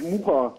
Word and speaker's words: Mucher: Habe ich das richtig ausgesprochen, Herr Muscher? Ja, eigentlich Mucher. Mucher? Mucher. Wir haben das durch eingedeutscht.